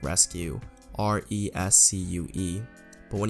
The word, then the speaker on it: Resku: meeting with their company the way it is pronounced like rescue our ESC UE but